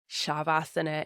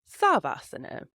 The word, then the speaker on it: Shavasana: For example, like I said much earlier on, Shavasana instead of Savasana.